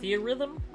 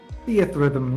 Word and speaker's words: Theatrhythm: Wait, Theorhythm? Theatrhythm, yes.